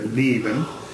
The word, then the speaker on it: Leben: in the back, and Germans say L in the front. Lie, right up here, Leben. If you have an E vowel after it, so Leben, right? Leben. If you do it, for instance, in American, it gets under pitch.